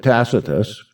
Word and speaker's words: Tacitus: 66 and 73 a.d takatus tells us some people pronounce that tacitus that the doors of